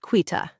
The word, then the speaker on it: Quita: I am excited to see how that rolls out and my name is pronounced quitta.